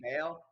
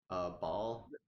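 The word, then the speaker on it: Baal: next 4 characters Is that are all how you pronounce girls. his name? Bale. Ball.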